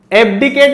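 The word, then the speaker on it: abdicate: एब्डिकेट इसका सही pronunciation है, लेकिन अगर मैं इसको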